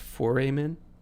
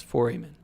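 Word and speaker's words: foramen: oh wait ryan says it's pronounced four amen so four men it's not four men it's four amen okay i'll try to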